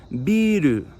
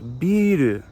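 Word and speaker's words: ビール: Literally the word for beer in Japanese is beeru. Yes, they took it from English beiru.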